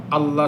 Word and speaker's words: الله: হবে পাতলা হবে আর পূর্বে পেশ অথবা জবর হলে লফজে আল্লাহর লামটা কি হবে মোটা হবে আল্লাহ আর আল্লাহুম্মা একই বিধান।